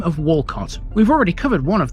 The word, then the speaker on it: Walcot: the other one and even though it's pronounced the same way it's spelled slightly differently having only the one